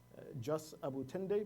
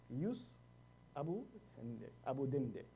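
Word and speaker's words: jus abutendi: And this is actually the correct pronunciation of the term. Yesterday we said jus abutende, but the Latin pronunciation is jus abudende.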